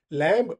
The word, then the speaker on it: lamb: लैम्ब, LAMB में B silent है।